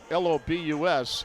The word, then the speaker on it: Lobus: Spells it L u L O B U S and it's pronounced Lobus.